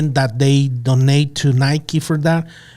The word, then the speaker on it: Nike: No, I was gonna say Nike is very good at storytelling, and I Oh think yeah, you said it right.